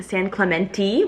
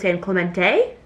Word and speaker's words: San Clemente: This past week I was in San Clementi, which apparently is how you pronounce it. I thought it was San Clemente. Clementi ti. That's apparently what the locals call it.